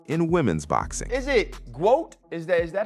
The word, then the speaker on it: GWOAT: Is it GWOAT? Is that how it's said? Yes, GWOAT? like GOAT, but GWOAT, yeah.